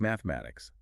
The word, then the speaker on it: mathematics: Take mathematics. The trap is the TH. You have to physically put your tongue between your teeth to create that friction.